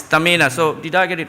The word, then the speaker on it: Tamina: I used to pronounce her name Tahmina, but then she said no, it's Tamina.